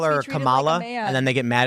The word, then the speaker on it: Kamala: just call her Harris right people call her Kamala and then they get mad at you a football player they get really offended you don't know how to pronounce her name properly it's it's Kamala but anyway if she actually does implement price